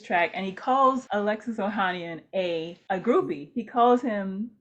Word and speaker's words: Ohanian: But one of the people he dissed in the track was Serena Williams' husband, Alexis Ohanian, who used to be, I'm probably saying that wrong, Ohanian?